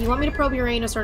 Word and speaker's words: Uranus: rectum watching probe statically not supposed to be pronounced your your anus it's supposed to pronounced Uranus okay that's just the way